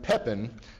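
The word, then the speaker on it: Pépin: by his son pepin who is historically known as pep in the short i like it better in french it's pepin labreth you know kind of kind of you know breath kind of smell and i mean kind of smells no kind of sounds like something brief doesn't it so but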